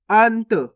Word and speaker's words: अंत: अनत नहीं पढ़ना आपको, अगर आप अनत पढ़ोगे तो इस प्रकार से पूरा ना का उच्चारण हो जाएगा, जबकि अपन आधा ना पढ़ रहे हैं, देखो इस प्रकार से, तो कैसे पढ़ेंगे? अंत।